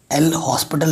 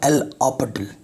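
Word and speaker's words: L'Hôpital: ठीक है, एल लापटल, इसका जो प्रोनाउंसिएशन थोड़ा डिफरेंट है। एल हॉस्पिटल लिखते हैं लेकिन बोलते हैं एल ऑपटल।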